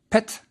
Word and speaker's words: pt: Our last word has a rectangle, which is a p, and a semicircle, which is a t, so it's pronounced pet.